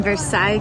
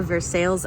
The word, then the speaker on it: Versailles: I'm in Versailles Kentucky today or Versailles I believe they pronounce it here locally and we're about to